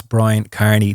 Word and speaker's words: Kearney: for years so like my name is Brian Carney the E is silent in my name so like it being